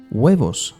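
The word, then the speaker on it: huevos: hamon queso cheese queso weos eggs and very important the H in Spanish is never pronounced not even at the start of the word and neither in the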